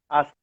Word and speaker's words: Ast: O nome dela significa, ela se pronuncia em egípcio antigo, Ast significa o trono.